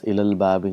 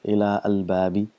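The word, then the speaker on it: إلى الباب: So now our mind can tell exactly why do we read as ilal babi, not as ila al babi.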